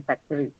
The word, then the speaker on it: factory: in a bracket and that's because the Americans do not very prominently annunciate thatwah in factory uh but in British we do right so either way whether you say two or three it should be okay right because we are